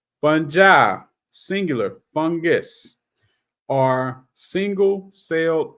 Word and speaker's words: fungi: some days it's fungi some days it's funi but I'm looking at the pronunciation in the book all right funja singular fungus are single